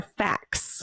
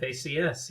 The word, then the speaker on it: FACS: of Public Health and is it pronounced FACS or fax uh FACS yeah FACS he is an a